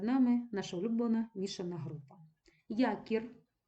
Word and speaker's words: якір: наша улюблена мішана група Якір м'яка група знову ж таки не падає наголос на суфікс падає на корінь і м'яка група Друга